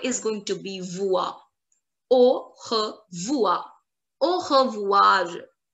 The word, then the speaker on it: au revoir: They remove R-E in pronunciation, not in the written form.